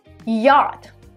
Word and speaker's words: yacht: or traveling and basically here you have two letters ch that are not pronounced yacht how about we